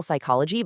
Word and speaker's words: psychology: I mean, if you misspell psychology because you forgot the silent P, you lose the mark.